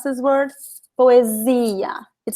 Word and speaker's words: poesia: The S in Portuguese, between 2 vowels, always sounds like Z. So you see how I pronounce this word? Poesia.